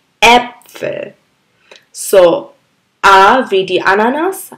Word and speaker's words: Äpfel: D Apple D Apple এই এ দুই ফুটওয়ালার শব্দটা একটু ভর দিয়ে উচ্চারণ করতে হয় যেমন আমরা আ বলেছি আ ভি ডি আনানাস এটা আসলে এ ভি ডি Äpfel.